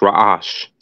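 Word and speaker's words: ר: the next letter is the rash pronounced rash the Picto form is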